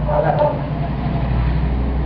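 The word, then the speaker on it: alátaka: Dice Nacho en su página, Guayunaiki para el mundo, que la L, Guayú, suena entre L y R. Sería algo así como alátaca.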